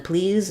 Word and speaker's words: please: please um and then please is just the e um tense e sound letters SE say the z sound at the end of that don't disturb me please